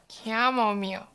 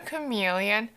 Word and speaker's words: chamomile: Okay, everyone repeat after me. Chamomile. Not a chameleon. Not a camel meal. Not a camel millennial. Not a camouflage meal.